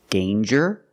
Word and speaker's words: danger: pronounced different ways example danger and anger so with danger we hear the J sound Danger there's no nasal sound there's no um it's a regular n Dane with Egypt sound